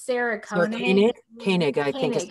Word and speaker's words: Koenig: It's Sarah Koenig. I think is how she pronounces it. Yeah. I say Koenig too.